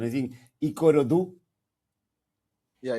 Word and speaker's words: Ikorodu: I don't know the correct pronunciation. I think Ikorodu. Yeah, Ikorodu.